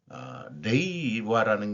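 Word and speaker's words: 令和: 야노 코치라는 사람이 웨지를 통해서 보도를 했는데 웨지 2024년 6월에 게재된 헤이세이 전사 레이와라는 게 이제 지금 령화라고 되는 거를 얘네들이 레이와라고 발음을 하는 모양이에요.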